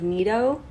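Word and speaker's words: 呢度: Well, very traditionally, I think it's meant to be like N-E-D-O, almost like Nido.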